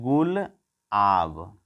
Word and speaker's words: गुलाब: तो पाकिस्तान ने किया है और इसका सही उसने उच्चारण किया है गुल आब। तो इसको मिला करके मतलब जो है गुलाब बोला जा रहा है।